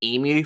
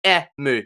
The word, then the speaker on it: Emu: Due to the way his name was spelt, and because I'm Australian, I pronounced his name as Emu for the longest time, and now I finally got it right. So yeah, like it's Emu because that's the Japanese, What not were you Emu.